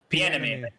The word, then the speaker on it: Bieniemy: Bieniemy.